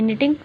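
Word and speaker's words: knitting: अच्छा, अब क्या हुआ, मिसेज जो ऑर्ली थी वो क्या करी थी, वो निटिंग करी थी, निटिंग, इट्स नॉट निटिंग, इट्स निटिंग, okay, के is silent, underline this word, निटिंग,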